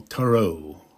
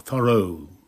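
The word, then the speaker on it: Thoreau: it it was thorough t h o r e Au U or Toro or thorough is perhaps the way you say it most men live lives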